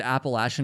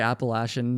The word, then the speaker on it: Appalachian: Like if I said Appalachian in Vermont, I'd just look like an idiot.